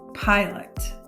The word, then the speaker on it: pilot: divide before the consonant in the first syllable we have an open syllable that means this makes a long sound so for this word we would say pi lut pilot and our next word